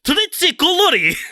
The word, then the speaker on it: trzy kolory: I know how to pronounce three colours in French. Trois couleurs, or in Polish, it's trzy kolory, which is significantly less relaxing, I think.